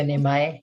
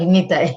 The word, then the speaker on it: Nitai: Nitai. Thank you, Nimai. And You mean Nitai? sorry, Nitai.